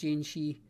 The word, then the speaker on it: Jianshe: problem out of that I think it's pronounced jinchi you know it's a Honda